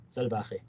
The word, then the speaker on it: salbahe: I was pronouncing like English. Salbahe. Let me like salbahe. Yeah, it's same thing. Salbahe. Can you hear that? Yeah, salbahe. Yes. So it's yeah, salbaje. It's actually like J in Spanish sound like because it's jota in J.